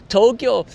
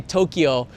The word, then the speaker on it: Tokyo: Tokyo, I know the international press, they like to say Tokyo. It's actually pronounced with 2 syllables.